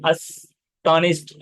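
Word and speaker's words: astonished: तो पढ़ने के लिए अस्टोनिश्ड ऐसा पढ़ना है, अस्टोनिश्ड।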